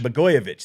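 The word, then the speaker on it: Blagojevich: blo how do you say this guy's name bogovic bich bovich that's it bich yeah okay yeah so Trump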